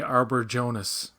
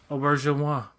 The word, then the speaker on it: Auberjonois: So it was like Renee Arbor Jonas. That's what it was to me. Yeah, I say it like Renee Auberjonois, blah blah blah. Auberjonois.